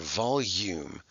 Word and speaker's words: volume: up all right let me show you how that's spelled it's a little tricky because you hear the u sound volume but there's no y this is just one